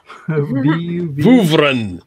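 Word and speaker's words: Vuvrian: Oh, the I'm sorry, Vuvurian? V-U-V-R-I-A-N? What is that? How do you pronounce that, Ben? Vuvren.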